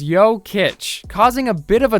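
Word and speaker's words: Jokić: Joker hailing from Serbia jokic's last name is pronounced as yoit causing a bit of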